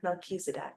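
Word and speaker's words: Melchizedek: Oh, the ch is actually pronounced as a K Misedc. Mechisedc.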